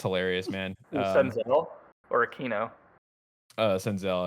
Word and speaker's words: Senzel: Senzel. I said Sensel.